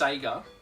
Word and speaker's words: Sega: at the front always says Seger and it's pronounced Sega the game even says say yeah but Australian